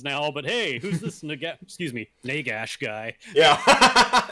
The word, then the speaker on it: Nagash: So real quick, I just want to okay, what's this word right here? Here, it might rhyme with this word. Dash, right? Okay. It's not gosh. It's not like oh my gosh. And so like here's a word here, swag, or like nag, and then so we'll just do this.